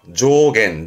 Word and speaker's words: 増減: 조겐 조 명심할 거 이감은 의미라는 거 조증가와 감소를 줄여서 조이었습니다.